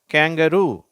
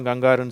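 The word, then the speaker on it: kangaroo: வார்த்தை எப்படி சொல்லணும் கங்காரு சொல்லக்கூடாது. கேங்கரு. தமிழ்ல நம்ம கங்காருன்னு சொல்றோம். ஆங்கிலத்துல அந்த மிருகத்தை அந்த விலங்க நம்ம என்னன்னு சொல்றோம்? கேங்கரு அப்படின்னு சொல்லணும். இதுல வந்து இதுலயும் பாத்தீங்கன்னா வேற வேற ஸ்பெல்லிங் வந்திருக்கு.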